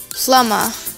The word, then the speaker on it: plumber: you pronounce it as plumber or plumber plumber yeah because B is silent here yeah and in British